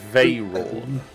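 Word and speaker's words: Vhaeraun: This is Veyrawn.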